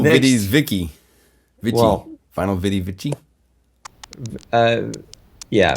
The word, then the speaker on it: Vici: Well, Vinyl Viddy Vici. Yeah, Vicky is the Latin pronunciation, and Vicky.